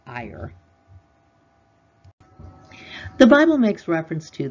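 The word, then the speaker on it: Iyr: The Hebrew word would be I-Y-R. I believe it's pronounced Iyer.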